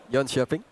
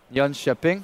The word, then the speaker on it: Jönköping: Jönköping. Jönköping.